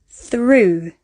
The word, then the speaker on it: through: The 5th example of how we can pronounce this spelling is oo, through. Sometimes it can be pronounced as the schwa sound, thorough.